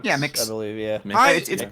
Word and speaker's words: MX: Is it mix? MX. MX. MX. M. Yeah, mix I believe. Yeah, mix. It's pronounced mix.